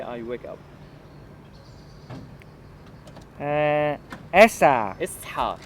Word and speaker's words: اصحى: Esa. اصحى. Esha. So you have the ha strong.